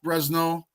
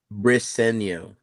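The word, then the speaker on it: Briseño: musical expression from Chuck Bresno. And am I saying it right, Chuck? Yeah, not well. Tell me. Say it again. Briseno. Oh, see, I was totally effing that up.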